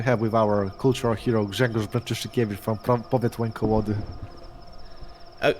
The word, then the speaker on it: Grzegorz: Jagosh? Grzegorz Brzęczyszczykiewicz. Dragush? It's Gregor. Am I saying it right? No, Grzegorz.